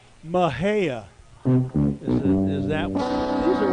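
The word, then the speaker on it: Mexia: I would have looked at it and thought, the Spanish pronunciation, Mejia or something like that, but that's not what they say. They say Mahea. Mahea.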